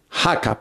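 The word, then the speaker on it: haka: Jaca, pronunciado jaca, dice, son danzas tradicionales colectivas que combinan movimientos, voces y gestos vigorosos sincronizados de la cultura maorí.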